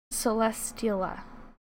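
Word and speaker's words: Celesteela: trouble pronouncing it because i want to say celestial but then there's an a at the end and it throws me off but then i also know it's steel so celestiala did i do it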